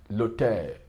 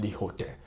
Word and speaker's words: l'hôtel: See, l'hôtel, vowel preceded by a consonant. You see, the H is silent. L'hôtel, not the hotel.